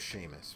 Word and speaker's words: Seamus: If you know anyone named Sean, you should understand how Seamus is pronounced.